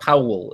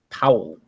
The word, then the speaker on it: Powell: It's like one syllable. Owl. Yeah, Owl. Powell. Yeah. Powell. It's one syllable. It's not Powell. It's Powell.